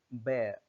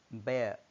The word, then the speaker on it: bear: And this is bear, bear, not beer or beer.